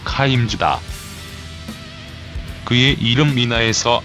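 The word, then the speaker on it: Kimes: 즈 가 그 주인공이다 한국에서는 킴 s 로 알려져 있으나 정확한 영어 발음은 카임 주다 그의 이름 민아 에서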